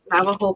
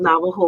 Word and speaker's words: Navajo: So it's spelled Navajo with a J, Navajo, if you want to look it up on the website.